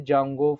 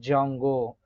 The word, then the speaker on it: Django: after that uh the jungle framework where D is silent that's why people are calling like a jungle jungle framework also we need